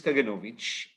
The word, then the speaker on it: Kaganovich: me about my last name and how to pronounce it and my last name is kaganovich and I'm a grandson of a holocaust Survivor